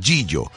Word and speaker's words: Gigio: Proveedora de Alimentos Gigio, así se escribe, G-I-G-I-O. Pero se pronuncia Gillo.